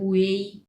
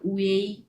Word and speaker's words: ui: ইউআই থাকবে, শুধুমাত্র ইউআই থাকবে, বাট এটা উচ্চারণ হবে উয়েই, উয়েই, হ্যাঁ। এটার উচ্চারণ হবে উয়েই।